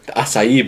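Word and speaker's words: açaí: to for me to order and I order acai bowl as I have learned it is pronounced and so stupid people there you go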